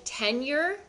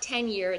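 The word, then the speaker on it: tenure: Or they can set up what we call a 10year which is not tenyear. It's spelled T E N U R E, which is like a life payment.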